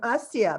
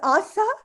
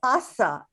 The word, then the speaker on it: Asa: i have oh ella i have always pronounced your sister's name asia but i guess that's wrong so i apologize to you and to her it's asa it's from casa as you remember your grandmother's sister was hased veda so she's named after hasan yeah i see the eye and i go asias but it's asa no it's awesome like